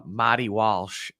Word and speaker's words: Marty Walsh: Boston accent is uh mty Walsh uh that's that's that's how you would that's how you would say his name if you were from Boston um but he was he's